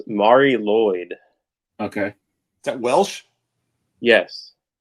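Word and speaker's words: Mari Lwyd: uh this one uh how do you even pronounce that it's it's Mari Lloyd okay is that Welsh yes um do you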